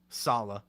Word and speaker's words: Saleh: How do you say it? Saleh. Saleh hates the spelling. women. The spelling is opposite of Selah from the Bible. So it's yeah. Okay, so it's Saleh. Saleh.